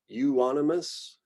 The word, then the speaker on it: Euonymus: And so we just combine this EU and it often just gets said as U. So euonymus, eupatorium. F, also pretty straightforward, Phagopyrum, Fallopia, Festuca, Filipendula, Fimbristylis, Feniculum.